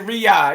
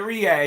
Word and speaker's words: Riyadh: And he said Riyadh. He said it right. People be saying right. Ryan. He said Riyadh.